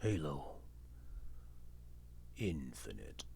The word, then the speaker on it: Halo Infinite: But yeah, let's do Halo Infinity. That's how you pronounce it? Halo Infinite.